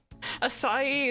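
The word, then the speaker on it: açaí: correct me acai acai it's done it's done acai is how you say it thank you so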